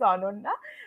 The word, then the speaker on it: Ananya: the little bit more the actual pronunciation of my name is anona but everyone calls me ananya because that's like a more Indian pronunciation yeah yeah you name